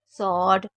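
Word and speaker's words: sword: नहीं होती जैसे आंसर स्वोर्ड तू आंसर यानी की जवाब स्वोर्ड यानी की तलवार और तू यानी की दो तो यहां पर आपको डब्लू को साइलेंट रखना है ठीक है तो आप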